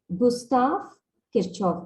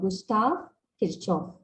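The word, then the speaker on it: Gustav Kirchhoff: was first formulated by kirchoff his name is pronounced as gustav kirchoff gustav kirchoff okay and this was way back in 1845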